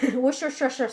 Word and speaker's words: Worcestershire: Worcestershire sauce.